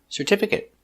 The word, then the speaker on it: certificate: we pronounce it separate today we're going to practice with these important words that end with a but are never verbs so they're always pronounced with the it short it sound like private certificate chocolate corporate and immediate